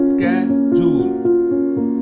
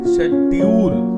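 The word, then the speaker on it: schedule: Example, स्केड्यूल, स्केड्यूल British version है, often शेड्यूल भी बोला जाता है।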